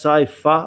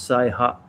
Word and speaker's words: Saiha: uchi nadi the uh okinawan language is that right sai pha i believe mike clark uh and in kyokushin in the old days sometimes it was also called safa but in japanese it's say ha huh sane cutter so